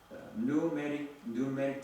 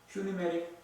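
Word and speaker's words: pneumatic: 에어 장비를 뭐라고 하냐면 뉴메릭 드릴, 뉴메릭 잭이라고. 그것이 에어 잡기, 공기를 집어넣어서 공구를 돌려서 드릴을 뚫고, 공기를 집어넣어서 잭을 해서 큰 차를 들어 올리는 것을 퓨니메릭 잭. 그래서 이 퓨가 이제 묵음에서 뉴메릭이라고.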